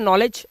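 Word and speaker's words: knowledge: तो यह हमारा साइलेंट है। और इसी तरह से हमारा एक और वर्ड होता है नॉलेज।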